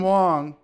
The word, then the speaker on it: Wang: Wong but it's pronoun it's pronounced Wong which is spelled w-a-n-g Swiss army knife was